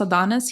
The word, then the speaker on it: Adonxs: Is it pronounced Adonis? Because I know he uses the X instead of the I, right? Yeah. So, So it's still pronounced Adonis.